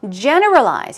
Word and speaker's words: generalize: another word for sexist generalize here we go stress goes on the first syllable generalize and it means to